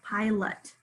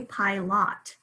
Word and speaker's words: pilot: okay then we have pilot pi long i sound i hear it pilot we don't say pie lot so we know that that second syllable has sichua and the schwa is being um spelled by the oh around see if you